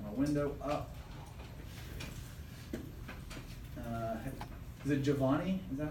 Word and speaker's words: Giovanni: Is it Giovanni? Is that how you say it? Yes. Giovanni, can you turn those lights off?